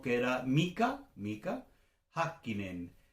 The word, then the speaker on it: Häkkinen: 1 que era Mika Häkkinen? Es Häkkinen, no es Häkkinen, como diríamos en español, es Häkkinen. O Raikkonen, no es Raikkonen. Eso, la primera sílaba, eso es importante tenerla en cuenta.